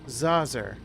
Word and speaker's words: Zazer: It's pronounced Zazer, like laser with a Z.